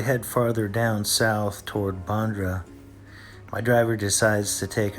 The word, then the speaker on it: Bandra: And you pronounce it Honda? Yes, Bandra.